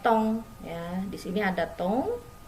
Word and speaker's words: ton: Di sini ada tong. Nah, yang tong ini dibacanya tong.